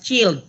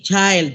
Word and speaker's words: child: the model teacher uh pronounce the word child as chilled it should be child and anayon during the